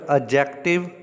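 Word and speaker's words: adjective: Third एडजेक्टिव, ये D silent होता है, इसको एडजेक्टिव पढ़ेंगे।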